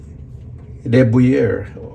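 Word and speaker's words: de Buyer: Paki-comment lang po dun sa mga deber. Parang buyer yung spelling pero deber yatapronounce.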